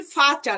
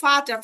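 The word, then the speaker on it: Vater: মনে রাখতে পারেন ফাটার, এই যে ফাটার, ফাটার মানে হচ্ছে বাবা। ফাটার মানে বাবা। এই যে ভি, ভির উচ্চারণ কিন্তু ফাও।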